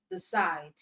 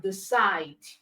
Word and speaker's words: decide: So you have arrive, okay, you have invite, you have decide. All right, so these words are stressed on the second syllable.